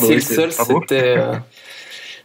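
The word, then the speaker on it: Zilsel: Je prononce bien à l'allemande, puisque Silsel, c'était un historien et philosophe des sciences autrichien. Enfin, je ne sais pas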